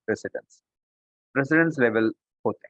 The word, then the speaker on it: precedence: शायद आपने spell pronunciation सही ना सुना तो मैं आपको बताऊं, PRECEDENCE, प्रेसिडेंस।